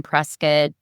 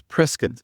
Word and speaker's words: Prescott: Shawntel was just telling me before that it's Prescott, not Prescott. So, Yeah, so there's a debate, but uh, the people from there definitely call it Prescott.